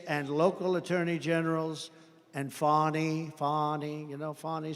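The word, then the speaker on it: Fani: including local Das and local attorney generals and fonnie fonnie you know fonnie spelled f a n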